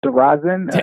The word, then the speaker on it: Derazin: I think you did good. It's Derazin. I think it takes a little used to, but you did good. As my wife would say, I put the emphasis on the wrong syllable.